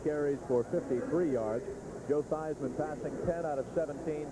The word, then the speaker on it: Theismann: As Joe Theismann went to Notre Dame, had to rhyme with Heisman, so they changed it to Theismann. Theismann and Heisman.